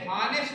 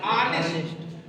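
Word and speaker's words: honest: लेकिन इनमें यच साइलेंट रहता है। यच को स्पीकिंग करते समय, बोलते समय यच जो है छिपा रहता है। इस वजह से हॉनेस्ट नहीं पढ़ेंगे, क्या पढ़ेंगे? ऑनेस्ट। और जब ऑनेस्ट पढ़ेंगे तो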